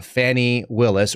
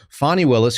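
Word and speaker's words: Fani Willis: Federal areas we know that is that uh Fanny Willis or fonnie Willis as I've been told it's pronounced fonnie Willis who is showing her Fanny down in Georgia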